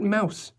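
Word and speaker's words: Maus: It's the home of Robert Mouse, the attorney. M A U S, but he uses the German pronunciation.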